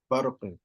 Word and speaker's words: برق: So ba has to still be pronounced with tarqiq in words like barqin when they come side by side with, again, mufakhama letters. Letters that's pronounced like ra, okay? Barqin, barq, ba, barq, okay? Not barq, ba. No, barq.